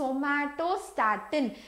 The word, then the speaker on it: somatostatin: நான் எப்பவுமே அந்த somatostatin stomato pronounce பண்ணுவேன். So don't do like that. It is somatostatin.